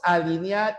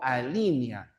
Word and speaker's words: alinea: Bueno, ya les expliqué lo especimen, especímenes y por si acaso, los verbos alinear y delinear no se tillan nunca en la i. Ya se dice alinea, no alínea.